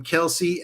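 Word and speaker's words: Kelce: By the way, you guys hear from Kelsey. Everyone else pronounces their name wrong.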